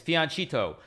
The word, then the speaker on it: fianchetto: So bad pronunciation for fianchetto is fianchetto. Don't tell me otherwise, you guys.